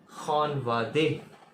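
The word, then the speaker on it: خانواده: तो फैमिली को जो है फ़ारसी में कहते हैं खानवादे। खानवादे ऐसे लिखते हैं, खानवादे। उर्दू में भी हम खानवादा कहते हैं, खानवादा। फ़ारसी में बस सिर्फ इसको प्रोनाउंसिएशन का फ़र्क है, खानवादे फैमिली, खानवादे।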